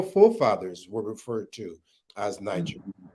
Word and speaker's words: Niger: the French is slightly different. Right. Yes. Yes, Niger, not Niger, not the English Niger. Yeah. It's Niger. Niger, soft G.